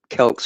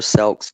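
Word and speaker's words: Celts: We also have a book over here on the Kelks or Selks, depending on how you say it, that might be of interest as well as far as this is concerned.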